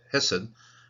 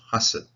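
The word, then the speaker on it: חסד: The normal way of pronouncing this one is Hesed, but it's got a siluk and it pushes it up to a kamis, so Hasid.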